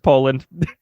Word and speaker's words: Poland: that's right it is how do you pronounce that one though what po nope it's just Poland okay they didn't [